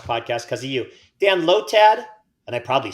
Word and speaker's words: Lotad: want to watch podcast because of you Dan lotad and I probably said it wrong lotad lad lad l or lowjack lotad I'm pretty sure you said it right which one you want to pick lotad okay good job buddy Dan armor fossil or